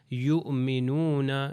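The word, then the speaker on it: يُؤْمِنُونَ: جو ہے حمزہ ہے اور حمزہ کے اوپر سکون ہے، تو تلفظ اس کا ہو جائے گا یؤمنون، یؤمنون، جیسے کہ آج کے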